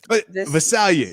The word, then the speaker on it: Visalia: Visalia.